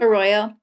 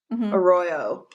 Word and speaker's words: Arroyo: Arroyo. Arroyo.